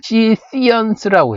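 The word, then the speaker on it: Scythians: 영어로는 시시언스라고 해요. 시시언스. 영어 발음으로 알아두는 게 가장 좋아요.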